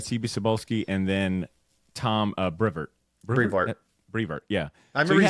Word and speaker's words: Brevoort: Cebulski and then Tom Brevoort. Brevoort, yeah. I remember you saying that during the bonus episode, like, Badr, it's Brevoort.